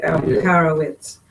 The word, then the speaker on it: Alperovitz: I don't know if it's supposed to be pronounced with a V or a W. It is spelled with a V. With a W, Alperovitz.